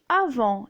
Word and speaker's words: avant: Donc on dit avant, et la lettre T est muette.